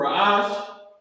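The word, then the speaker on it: ראש: or beginning raash and how you pronounce it is RA a and the sh is connected a I tried to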